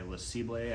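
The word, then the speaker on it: Lacible: video it's uh it's made by lisibly I think that's how you pronounce it's made in France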